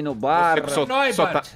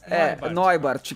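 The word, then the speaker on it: Neubarth: Tem gente que chama de Leilani Neubart, Leilani Nubar. Neubart, que é a pronúncia correta, mas isso é o que menos...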